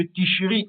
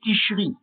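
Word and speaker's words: תשרי: dans le mois de ticherie en hébreu et ticherine donc dans la langue arabe du levant. Donc bien qu'en hébreu israélien le mot soit prononcé ticher tout indique que la bonne prononciation est ticherie.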